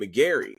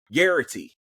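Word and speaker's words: Garraty: And also like the development of this friendship between Pete and uh and McGary. Oh, I'm I'm saying his name wrong, ain't I? Guity.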